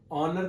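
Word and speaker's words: honour: ऑनर का एन ऑनर, देखिए जैसे आर वाला होता है सेम इसी तरह से इसका भी है एन ऑनर, यानी कि ये वाला जो एच है वो साइलेंट है इसमें।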